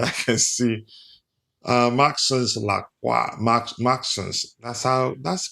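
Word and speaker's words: Maxence: Maxons. That's correct pronunciation.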